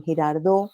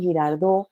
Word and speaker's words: Girardot: C casi no decimos, esa T que nos comemos los bogotanos al final de las palabras, como en Girardot, nosotros veraneamos en Girardot y no en Girardot.